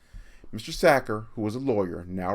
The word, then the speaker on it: Sachar: pronouncing his name wrong it should be said Zakhar like someone who tackles quarterbacks and stuffed potatoes in the sacks mr. sacker who was a lawyer